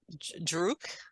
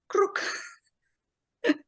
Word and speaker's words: Krruk: Please Krruk. share it. Druk? Krruk. Krruk. Krruk. Can you spell that or the closest Krruk. spelling? K-R-O-O-K. Roll the R.